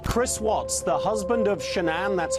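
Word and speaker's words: Shanann: daughters in Colorado Chris Waltz the husband of shanan that's how you pronounce it has been placed into custody and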